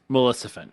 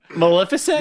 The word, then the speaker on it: Maleficent: one melissan yes and you didn't say it right say it right wait Maleficent Maleficent Maleficent said Maleficent again you said melissen again fans fans of the blooper episode will understand Maleficent there you go malefic so I got